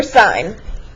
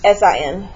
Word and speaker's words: sin: And they say sin, cos, tan. Well, it's not sin, cos, tan. It's sine, cosine, tangent.